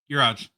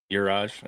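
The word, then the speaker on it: Juraj: How do you pronounce his first name? Uraj. Uraj. Okay, I didn't want to completely mess it up, but Uraj Slavkovsky.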